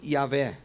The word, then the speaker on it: Yahweh: Now, this is what's interesting, and this is why I believe that Yehovah or Jehovah is not the correct pronunciation, because the Leningrad Codex